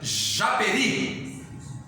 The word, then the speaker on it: Japeri: Por exemplo, a minha cidade querida, Japeri. Japeri não é acentuada, essa palavrinha, porque a sílaba tônica dela está no i. Japeri, ri. Você não fala Japeri, você não fala Japê, você fala Japeri. Eu sei que a sílaba